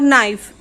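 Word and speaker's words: knife: गुरु थे काईट night अभी के ईंधन और नाइफ इन में तो नोटिस आ रही है बट कुछ पैसे होते हैं जिसमें की साइलेंट होता है यहां के साइलेंट इसलिए इसमें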